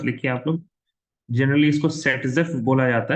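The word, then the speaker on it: Zaitsev: एक second, Z save मत लिखिए आप लोग, जनरली इसको सेटजेफ बोला जाता है। Rule, it was given by a scientist जिसका नाम ऐसे दिखता था वो जेड सेव, बट उसकी प्रोनाउंसिएशन होती है सेटजेफ।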